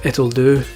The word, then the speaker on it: Ittle Dew: It took me ages to get that joke, because us Scots and Brits say Dew instead of do, like they do in America. So it's Ittle Dew, as in, that's good enough, Ittle Dew, ha ha ha, get it.